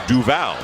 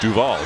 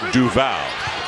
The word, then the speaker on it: Duval: mean his name is actually supposed to be pronounced Trayvon not Trayvon or Trayvon Trayvon and it's due vow not Duvall so he as chain not has changed has